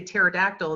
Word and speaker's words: pterodactyl: If they say pterodactyl, it still sounds like t, so it's not a problem.